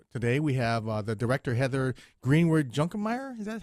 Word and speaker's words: Heather Greenwood-Junkermeier: So today we have the director, Heather Greenwood-Junkermeier. Is that how you pronounce it, Heather?